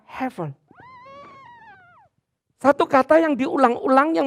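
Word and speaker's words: הבל: dalam bahasa Ibrani yaitu Hebel atau dibacanya Hevel.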